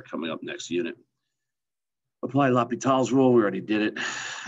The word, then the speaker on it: L'Hôpital: All right, chapter 9, sequences, L'Hôpital's rule. That's how you say it, by the way, or La Hospital, as my students like to say.